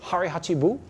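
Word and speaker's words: hara hachi bu: control has anybody ever heard the Japanese phrase harachi Buu you have did I say it right do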